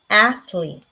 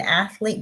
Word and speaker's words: athlete: a t but remember the letter e is silent here as long as you have vowel consonant e this is an athlete can you tell me what an athlete does what does an